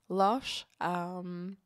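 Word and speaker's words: Loches: Loche.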